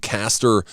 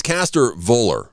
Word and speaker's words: Caster: Like, coming up next hour, we're going to talk with uh Minneapolis, Minnesota shock rock band Caster Velour. Now, it's a cast it's Caster.